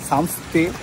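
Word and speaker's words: Samtse: দিয়ে ভুটানের এদিকে সামসে সামসতে আর কথাটা উচ্চারণ হচ্ছে সামসে তা বুঝে গেছি এখানে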